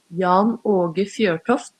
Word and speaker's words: Jan Åge Fjørtoft: I learned how to say it. It's and this is how you say it. Jan Åge Fjørtoft. Jan Åge Fjørtoft on the show tomorrow, right? That's in Norwegian as well.